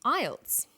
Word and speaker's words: IELTS: is called an acronym with an acronym we don't pronounce the individual letters we pronounce it as a word so we say